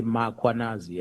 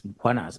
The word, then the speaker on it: Mkhwanazi: them to pronounce Mkhwanazi, they will put an A after M. They will say Mkhwanazi, and there's no A, it's Mkhwanazi, MKH.